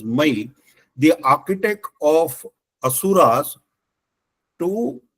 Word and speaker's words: Maya: This is what this princess demanded and accordingly that boon was granted and Brahma gi ordered my uh m a ya but my we have to pronounce as my the architect of Assuras to develop these three cities the beautiful cities.